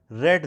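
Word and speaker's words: read: The mother will have रेड the Ramayan. रीड की third form रेड पढ़ी जाती है, स्पेलिंग वही होती है.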